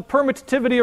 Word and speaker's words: permittivity: That's the permittivity of free space. You only pronounce one of the T's, but I like to pronounce both T's. It helps me remember how to spell it.